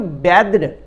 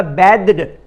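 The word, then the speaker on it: bathed: तो BATHE बैद होता है इसका प्रोनाउंसिएशन। बाथ जो होता है BATH, ये वर्ब नहीं है, वर्ब फॉर्मेशन उसका BATHE, तो उसका बैद्ड, बाथड नहीं कहेंगे, उसको बैद्ड कहेंगे।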